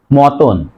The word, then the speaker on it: মতন: অ আছে, সে কারণে মাঝের এই তর সাথে ওকার হবে, উচ্চারণ হবে মতন, ম তয়কার দন্তন্য হস, মতন।